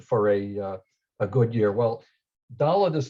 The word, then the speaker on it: Dalet: And I'm going to say why some of us grew up thinking that the letter is Dalet when it really is Dalet with a T sound at the end.